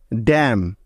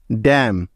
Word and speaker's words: damn: এম এর পরে এন থাকলে ওই এনটা সাইলেন্ট বা উজ্জ্ব হয়ে যায়, অর্থাৎ তার কোনো সাউন্ড হবে না। যেমন ড্যাম, DAMN, ড্যাম।